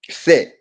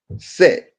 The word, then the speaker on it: Seth: So and then Isis and Osiris had a brother called um Set. Set. It's spelled Seth.